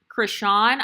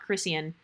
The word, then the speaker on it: Krishan: because that girl, Krishan, I guess I was saying her name wrong this whole time. Her name is Krishan Rock. It's not Christian.